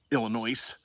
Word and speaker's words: Illinois: So it's been a hot spring here in Illinois. S is silent.